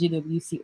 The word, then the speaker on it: JWT: token, a JWT, because people have this argument that is either pronounced as JWT or JOT. I call it JOT anyway.